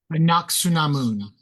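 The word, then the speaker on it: Anck-su-namun: Anaksunamun. Not Samun. Anak. Su. Namun. Namun. Okay, you guys, you've been educated.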